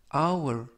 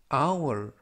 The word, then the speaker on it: hour: 이번 표현은 hour, hour, hour 이라고 발음하시면 되겠고요. 이때 유의하실 점은 앞에 있는 알파벳 H가 묵음이라서 이번 단어에서는 발음이 되지 않습니다.